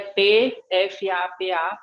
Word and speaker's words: PFAPA: E depois, ele é PFAPA, mas não se pronuncia o primeiro P.